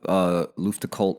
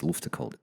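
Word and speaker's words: Luftgekühlt: I think it's Luftcult, isn't it?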